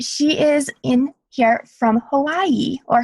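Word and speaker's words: Hawaiʻi: is in here from Hawaii or Hawaii how they pronounce it there's apostrophes in the words and I'm practicing them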